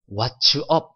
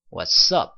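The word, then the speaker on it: What's up: 여기 tts 발음 있죠 이거를 왓츠 칠칠치 왓츠업 이렇게 말한 하시면 안되구요 와썹 써 그래서 더블 s 발음 그렇죠 와썹 와썹 와썹 이렇게 말하면 하시면 되겠습니다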